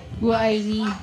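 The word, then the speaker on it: 我爱你: Wo ai ni. Wo ai ni. Iba-iba na sinasabi nyo dito ah. Pero ang pronunciation niya ganito, Berna. Ang pronunciation niya, wo ai ni.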